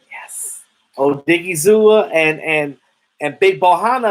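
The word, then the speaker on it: Odighizuwa: pass rusher when that when i'm telling you oh diggy zoo i said it right yes oh diggy zoo and and and big bohanna up in the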